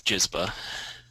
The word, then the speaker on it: Gizba: your last name again how do you pronounce it it's gizba his name is Mr